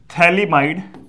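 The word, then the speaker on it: phthalimide: synthesis ठीक है Gabriel थली might synthesis इसमें क्या होता है ये कंपाउंड हम बना रहे हैं ऐसा है इस कंपाउंड का नाम होता है थलीमा इड थलीमा इड प इसमें साइलेंट है और एक बात यहां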